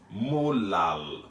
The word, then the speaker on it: molal: as 0.25 capital m that capital m is pronounced molar unlike the small m that we saw in the previous video which was mo lal for molality so second